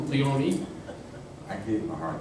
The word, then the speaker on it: Leone: Not Leone, Leone.